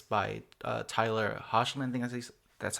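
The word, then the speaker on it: Hoechlin: impressed me the most because it's by Tyler harsh lending as he's that's how his last name's pronounced but he's also like he's also playing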